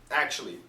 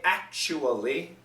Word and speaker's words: actually: just say actually actually actually both are are fine I recommend you say actually Four syllables very quick but four syllables but many Americans will